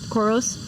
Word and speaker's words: Coros: Coros.